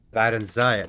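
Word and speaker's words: Barenziah: there is a stone of barenia oh barenia barenia that's how you pronounce it I I I call her barenia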